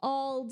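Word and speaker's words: auld: old the old the old fellow so was spelled like like an with an Irish accent so a u l d I believe the old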